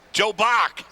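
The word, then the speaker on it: Bock: Joe Bach. You know how to spell that?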